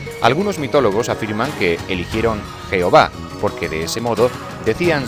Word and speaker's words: Yahvé: Algunos mitólogos afirman que eligieron Jehová, porque de ese modo decían Señor. Otros estudiosos, sin embargo, consideran que la pronunciación verdadera era Jaové, porque la relacionaban con las siglas de su concepto ser.